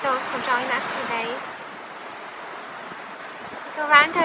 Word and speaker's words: Gauranga: Gauranga is an ancient mantra. It's consisting of four syllables, which are Go, Ra, An, Ga.